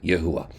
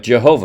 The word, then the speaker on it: Yahuwah: even a little bit, how to even pronounce the name Yahuwah. They have names like Jehovah, which is utterly stupid. No J, no V in ancient Hebrew.